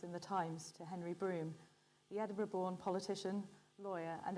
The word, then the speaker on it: Brougham: i'll accept that yeah it's usually pronounced broom but mormon broom is